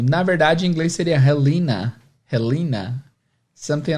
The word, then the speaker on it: Helena: Na verdade, em inglês seria Helena. Helena. Something like this, porque o H é sempre com som de R, mas vamos continuar Helena aqui.